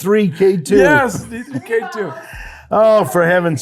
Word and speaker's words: D3K2: D2K3. No! It's D3K2.